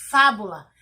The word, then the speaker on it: fábula: a palavra fábula ó fábula e se faz já está acentuada então logo eu entendo que a sílaba tônica da palavra fábula é um vá e depois